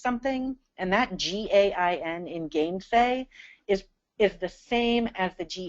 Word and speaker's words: gainsay: and that G-A-I-N in gainsay is the same as the G-A-I-N in again and against. All right, it's the same G-A-I-N. In gainsay, it's pronounced gain, but in again, it's pronounced gen.